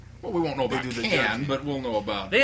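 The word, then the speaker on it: Cannes: across the pond uh can is that other place across the pond that's in France so right right you can't pronounce the S otherwise it sounds funny cans yeah can's Film Festival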